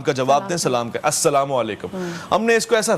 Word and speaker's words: السلام علیکم: صحیح جملہ تلفظ السلام علیکم، اور آپ نے السلام علیکم سام.